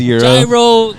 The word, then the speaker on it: gyro: So, they're not going to know that it's eiro. You know, you're going to say it right and they're going to be like, "What the is a gyro?"